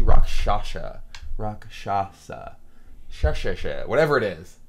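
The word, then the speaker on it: Rakshasa: Rock, I always pronounce this. It's I say Roxasha. It's actually Roshasha.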